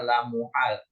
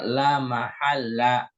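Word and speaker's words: لا محلّ: jumlah la Maha tadi Pak Agus bacanya l muhal jadi yang benar la mahalla la mahalla ini sering terulang nanti kalau ketemu lagi cara bacanya la mahalla Laha minali isfiah Oke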